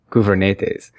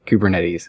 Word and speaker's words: Kubernetes: I met a Greek gentleman who said the actual Greek word is pronounced something like Koov-er-net-es, but, you know, it's something that was birthed on the west coast of the United States.